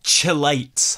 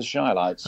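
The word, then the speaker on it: Chi-Lites: The Chilites have popped into my head for some reason. You've got the name wrong for a start. It's the Shilites.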